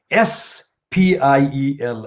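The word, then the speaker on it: spiels: spin and spills now spills is is spelled s p i e l s so there is no h in there but there is a pronunciation is done by assuming an h their spiel and h after the speed yes now on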